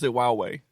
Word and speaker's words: Huawei: It's It's Huawei. Huawei. Huawei. What? Huawei. It's Chinese. H is silent.